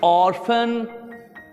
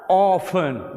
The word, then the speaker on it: orphan: American are को pronounce करते हैं, ब्रिटिश पीपल आर को स्किप कर जाते हैं। He became an orphan या orphan, दोनों तरह सही है।